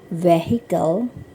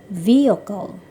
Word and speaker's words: vehicle: Number 30, it is not vehicle. Kendaraan itu bukan vehicle tetapi vehicle.